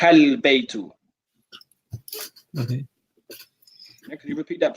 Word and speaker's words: البيت: one occasion, Anwar, is you're not pronouncing the alif and the lam. So for example, I just heard, I believe, وذلك بيت. I'm not hearing ذلك البيت.